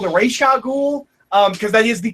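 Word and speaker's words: Ra's al Ghul: I considered changing my pronunciation of Razagul to Reshagul, because that is the correct way to pronounce it.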